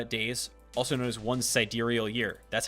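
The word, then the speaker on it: sidereal: 365.25 6 uh days also known as one siderial year that's how you pronounce that by the way uh so while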